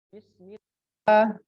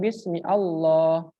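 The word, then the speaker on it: بسم الله: Makanya tadi bismillah ya, bismillah, bukan bismi Allah.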